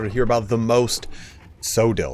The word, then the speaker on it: Coeddil: hear about the most sodel or I think it's actually pronounced codel I'm not really 100% sure but I'm going to